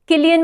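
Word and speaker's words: Cillian: actor भी मिला है किलियन मर्फी या सिलियन मर्फी जैसे भी प्रोनाउंस करो दोनों प्रोनंसिएशन राइट होते हैं उनके नाम के बेस्ट एक्ट्रेस ड्रामा मिला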